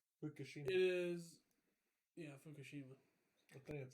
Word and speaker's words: Fukushima: and the Fukushima, I don't know how to pronounce that, nuclear hit in Japan. Race. Say it right. Fukushima.